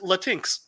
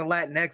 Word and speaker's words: Latinx: During the meetings, when Dave goes, I just learned it's supposed to be pronounced Latinx.